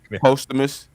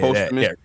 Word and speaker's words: posthumous: How you pronounce that P word? I can't. Posthumous. Yeah, Posthumous.